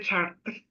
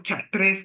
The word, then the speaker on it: Chartres: Me recuerdo en una ocasión que me tocó estar en la Catedral de Chartres, o Chartres, como se lee, pero se pronuncia Chartres, en Francia.